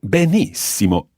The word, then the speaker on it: benissimo: try to bounce on the sound so stop benissimo stop bear nice SEMA benefit okay so we've